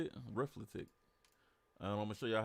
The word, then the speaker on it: Reflekt: This plugin right here is called Mouthing Off, and it's by reflekt, I guess is how you say it, reflekt.